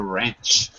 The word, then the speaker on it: wrench: w the duck no W is silent we don't actually say the w you know what it is right it is a wrench all of those are